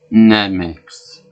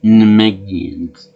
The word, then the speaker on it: Namekian: And I like the way Krillin, even though he knows that Namekian, he pronounces it Namex. He said more Namex. I'm sure it's proper English, but it just sounds wrong. You're supposed to Namekians, or the insult to the race.